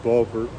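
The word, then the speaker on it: Bofur: Now, in Old Norse, the F's would still be pronounced V, Biver, Bulver, but that's clearly where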